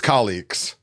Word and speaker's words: Calix: Okay, so yeah, I say Calix as well. Okay, Calyx. Now I know it's Calix.